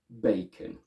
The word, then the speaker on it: bacon: Let's take the word bacon. In Italian, it's pronounced as bacon, where the a turns into a single e sound, and the schwa of the o turns into a closed o.